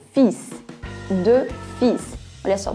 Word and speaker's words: fils: Fils. São dois filhos também. Nesse caso aí, a palavra fils, ela é uma exceção, porque em geral a letra S no final das palavras em francês não é pronunciada, mas nesse caso aí ela precisa ser.